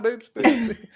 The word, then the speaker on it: Boops boops: And again, if I get this wrong, please tell me if I've pronounced it wrong, but it is boops boops.